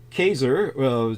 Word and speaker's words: Caesar: so then both uh kaser just so people know that's actually the correct pronunciation for Caesar it's more similar to Kaiser uh so but ker